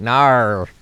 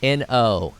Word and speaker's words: no: And they're like, nar. You're like, no, it's N-O. No.